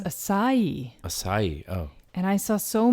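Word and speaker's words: açaí: pronunciations of this so some people will say akai akai or just a sai but you actually stress the last syllable of e so it's a psi it's a species of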